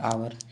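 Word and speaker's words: hour: लेते हैं कौन-कौन है जैसे आवर साइलेंट एच है ये सभी के सभी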